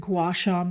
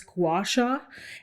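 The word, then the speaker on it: gua sha: So I love a good gouacha massage. If you guys have not experienced this or heard of it, you can go on Instagram or Tik Tok and just put in the words gouasha and you spell that gu a ha.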